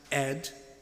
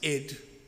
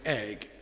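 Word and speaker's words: Áed: Pronounced, as I discovered yesterday, pronounced Ed in Scotland, and sometimes Id in Northumbria. Whereas I would have been going around saying Egg.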